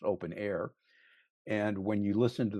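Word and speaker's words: openEHR: open EHR, pronounced uh it's spelled open EHR, it's pronounced open air.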